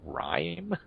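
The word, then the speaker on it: Rime: PS4 exclusive called um I think it's pronounced rhyme r-i-m-e and it looks like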